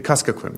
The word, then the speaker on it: Kuskokwim: Could you please address whether the communities that live on pronounce the river? The Kuskokwim, Your Honor. Kuskokwim.